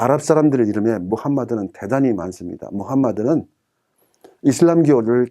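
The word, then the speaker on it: محمد: 다시 또 만들어 라고 발음합니다 이것을 미국 사람들은 무함마드를 바른 원외 미국식 발음으로 모하메드 마음에 4 으 이런 식으로 발음을 하게 됩니다 뭐 4 아랍 사람들의 이름에 무함마드는 대단히 많습니다 무함마드는 이슬람 기호를 장시 한 사람입니다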